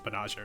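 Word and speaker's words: Banagher: Like, I actually like found an episode of the dub to watch, or like a clip of the dub, and apparently they pronounce it Banager.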